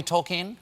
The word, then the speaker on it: Tolkien: but it is but it's properly Tolkien cocaine is the correct pronunciation and it was something